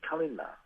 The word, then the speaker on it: Kalinga: means beautiful place and normally that that Kalinga would be pronounced calendar and it's from one